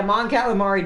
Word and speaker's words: Mon Calamari: for the missions yeah Mon Calamari does sound like food but that's technically how it's pronounced sadly the best dropship